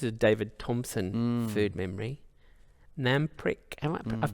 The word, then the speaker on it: Namprik: Namprik, I've pronounced that correctly.